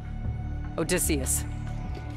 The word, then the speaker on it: Odysseus: in order to execute his attack trojan horse odysseus that's how you say it a decision to